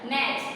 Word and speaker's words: match: फिर है वॉच, WATCH, वॉच का हो जाएगा मैच, MATCH, तो इसमें साइलेंट हो जाएगा T।